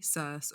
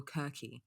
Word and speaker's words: Circe: Or her name's interesting to pronounce. It's either Circe, or Kirke.